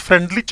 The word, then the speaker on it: Freundlich: Name है FRENEU, FREUNDLICH, इट is pronunciate as फ्रेंडलिच adsorption isotherm.